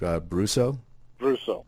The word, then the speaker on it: Brousseau: Peter Bruce oh and how are you sir mr. Brousseau thank you I am pronouncing your name correctly right Bruce oh hey does I got pretty lucky with that one horribly I'm horrible with